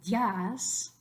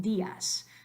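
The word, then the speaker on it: días: is a strong vowel but we don't want to say yes try that one that one's fun say it one syllable yes that's ridiculous we want D s so in order to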